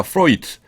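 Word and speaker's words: Freud: 프로이트. 지그문트 프로이트, 그 독일 심리학자죠. 그래서 D지만은 독일어에서는 마지막에 D가 올 적에는 트로 발음합니다.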